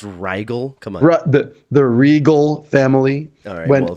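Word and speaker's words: Riegel: all over the place uh Sam the the Rieger family was off in Arizona on a ranch within some of the other guys it's pronounced rigel come on the Regal family all right well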